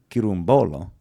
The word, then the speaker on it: Chirumbolo: Chirumbolo. Bolo. You just put the emphasis on the first B-O.